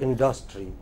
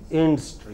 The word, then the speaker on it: industry: The main stress is here, not here. We in India, can I draw your attention, please? We in India have a tendency to stress it here. It's not here. It is not industry. It is industry.